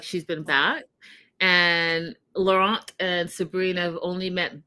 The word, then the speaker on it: Laurent: We meet Laurent is actually how you say it.